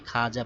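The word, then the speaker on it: خواجہ: দেখো এখানে খাজা ওয়াও কিন্তু পড়ে গেছে ওর উচ্চারণ হয় নাই খাওয়াজাহ এভাবে পড়ি নাই খাজা পড়েছি খাজা অর্থ সম্মানী ব্যক্তি তারপরে খাওয়াব পড়ি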